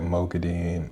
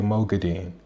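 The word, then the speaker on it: Moghedien: because in the audiobook, there's 2 different ways that Kate Redding and Michael Kramer say Mogadin. Originally, when they're saying the character, they say Mogadin. And then I think Kate Redding is the first one that changes and she starts to say Mogadin. And Michael Kramer continues to say Mogadin. And then they both start to say Mogadin at some point, so.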